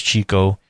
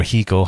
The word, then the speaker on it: Xico: They're known for their coffee, so is Chico, or Hico, however you'd like to pronounce it, Xico.